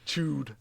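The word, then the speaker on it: Chüd: Chewed. It may be pronounced like chewed or something like that, but I just say Chud.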